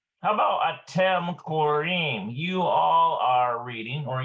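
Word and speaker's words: קוראים: infinitive and singular conjugations, but it is pronounced in the plural conjugations. Korim or korot. Okay, so he's talking about these right here. Korim or korot.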